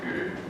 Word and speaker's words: Gürün: By the way, the name in Armenian is spelled Gürün, but with Turkish vowel harmony, almost all Armenians pronounce it Gürün.